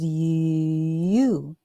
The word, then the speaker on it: you: So the word is you, you, you.